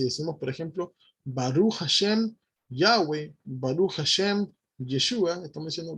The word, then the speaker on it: Yahweh: Entonces la pronunciación que más se asemeja a Yud Hei Bat Hei es Yahweh, Yahweh, ¿ok?